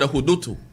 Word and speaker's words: hudutu: They actually the pronunciation of the word hudutu. Hudutu. The U kind of silent. You kind of literally swallow the U.